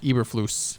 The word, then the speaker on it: Eberflus: quinn as well as packers dc uh matt eberflus that's how you pronounce it um one name i will want